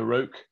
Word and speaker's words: Roc: But he'd shot down the first, or the only aircraft ever shot down, I believe, by a Roque, or Rock, depending on how you want to pronounce it, over Dunkirk.